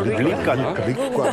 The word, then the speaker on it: 리과대학: 한국 발음으로 하면 이과대학인데 북한 발음으로 하면 리과대학이라고. 리과대학.